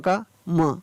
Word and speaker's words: calm: For example CALM, CALM, CA का हो गया का और M का म और L नहीं पढ़ा गया, तो क्या पढ़ा गया, काम।